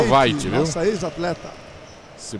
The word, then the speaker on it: Veit: Mas se pronuncia Veit, viu?